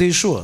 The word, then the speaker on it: Иешуа: На сколько языков се произносит днес имя на Иисуса? Хотя правильно звучит Иешуа.